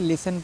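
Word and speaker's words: listen: आया हुआ है तो इसको क्या किया हमने टी को साइलेंट किया लिसन पढ़ा टी ई एन है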